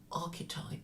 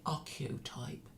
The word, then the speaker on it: archetype: banal, and when you instead of saying archetype, you say archeotype, and nobody corrects you, then I would suspect the academic credentials of such a person.